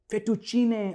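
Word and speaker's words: fettuccine: फेटुचीनी एक बहुत ही popular spaghetti variety है यहां इंडिया में। इसका सही है फेटुचीने, वन ऑफ my favourite Italian pastas, फेटुचीने।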